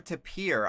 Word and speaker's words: tapir: Is it Typer or Tapir? I've always pronounced it Tapir.